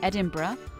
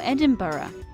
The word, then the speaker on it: Edinburgh: Many non-native English speakers say Edinburgh, which is not exactly how it should be pronounced. In fact, there are at least a few different ways to pronounce it. Most people in the UK pronounce it either Edinburgh or Edinburgh. Interestingly, many locals tend to abbreviate it to simply Embra.